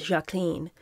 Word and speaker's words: Jacqueline: Ethel mocked Jackie's trademark breathy voice and drew guffaws from her Kennedy sisters-in-law by noting that Jackie pronounced her name as Jacqueline, which, Ethel howled, rhymed with queen.